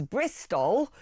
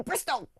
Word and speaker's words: Bristol: be Bristow, B-R-I-S-T-O-W, Bristow, and it was because of the West Country accent, Bristol. I'm going Bristol. That actually it became known as Bristol with an L because of the pronunciation of people from that part of the world.